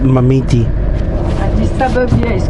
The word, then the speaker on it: Marmite: But they pronounce it Mamiti.